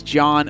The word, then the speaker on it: John: and my name is John with a silent age thank you so much